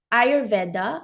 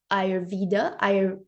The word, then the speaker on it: Ayurveda: Ayurveda or Ayurveda, the pronunciation depends on the country or tradition.